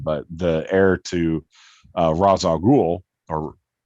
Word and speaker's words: Ra's al Ghul: to pronounce his name, but the heir to Ra's al Ghul, or Ra's al Ghul. Sorry, apologies. That's his proper pronunciation.